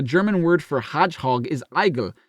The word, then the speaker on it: Igel: word for Hedgehog is eigel it's pronounced like the English word Eagle which ah Eagle which